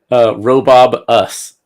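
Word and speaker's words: Robobus: You have to say it right, Kacey. It's Robob us. Robo-Bus.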